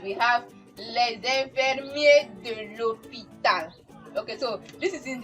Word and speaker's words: l'hôpital: have said it that when we have a silent H or a vowel coming in between, then we have it to be L apostrophe.